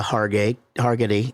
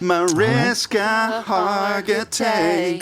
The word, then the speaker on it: Mariska Hargitay: actually runs into mariska hargate targety is that how you say it remember like merry christmas mariska hargitay all right what two